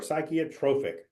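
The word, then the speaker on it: psychrotrophic: let's go back uh psychotrophic I mentioned that before psychotropic that is how you pronounce that I know it bacteria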